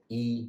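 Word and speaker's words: 一: all to do with the character e which is the number one in Chinese normally pronounced with a first tone e that's kind of two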